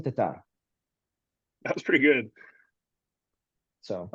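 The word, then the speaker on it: Tattar: Give me Tatter baby. Yeah, I figured. I'm just kidding. Let me say her name correctly. Christine Tatar.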